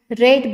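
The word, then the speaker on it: read: the book was being रेड बाय the children या ठिकाणी रीड spelling आहे मात्र रीड थर्ड फॉर्म रेड असं वाचतो आपण याला स्पेलिंग तेच असतं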